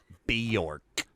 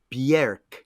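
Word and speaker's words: Björk: don't you tell us a little bit about bjork okay fellas first of all i'm going to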